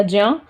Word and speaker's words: ज्ञ: क और श, ये वाला षटकोण वाला श, त्र, ता और रा से, ज्ञ या ज्या, ज और ओ से, ज्या, इसीलिए इसका प्रोनाउंसिएशन ज्या होता है, हम लोग ज्या ही पढ़ते हैं।